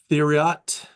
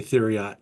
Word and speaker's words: Theriot: This is the Bodega Theriot Pinot Noir. I tried to pronounce it Therio, and I heard Thomas say Theriot, so I changed the way I said it.